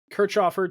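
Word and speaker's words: Kirchhöfer: Hours of Daytona OE Jarvis will join Marvin kofer did I pronounced that right Cher yeah Kurt chofer to form faf Motorsports full season GTD Pro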